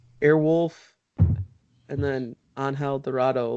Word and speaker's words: Angel: Yeah, yes, yeah, and they're it's pronounced Angel.